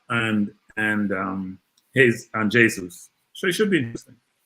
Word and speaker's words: Jesus: with jesus coming in no jesus not jesus i'm using the spanish pronunciation versus the president pronunciation jesus and what from